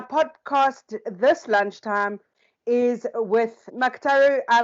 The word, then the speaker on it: Muctaru: from Michelle Ashburner, and my podcast this lunchtime is with Muctaru. I pronounced your name correctly? It's Muctaru.